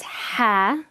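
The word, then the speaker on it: ح: So it's Ha, from really deep down the throat. It's not a ha sound, it's not a soft, it's deeper than that. Ha, so just practice it.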